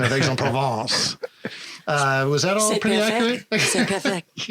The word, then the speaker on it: Aix-en-Provence: Now, aside from my questionable pronunciation of Aix-en-Provence, was that all pretty accurate?